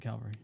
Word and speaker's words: cavalry: And this only affects the infantry, bikers, and cavalry.